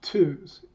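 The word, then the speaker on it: TUHS: second group is bit savers unisys or society pronounced two's has been collecting UNIX artifacts for almost two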